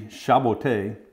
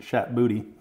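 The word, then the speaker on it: Chat Botté: Tonio Conti, initially Chaboté, which is French for Puss in Boots, but everybody in this country pronounced it Chat Booty, so we abandoned that name pretty quickly.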